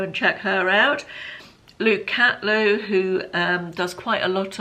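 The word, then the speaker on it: Catleugh: Luke Catlew, who does quite a lot of home decor content at the moment, I believe.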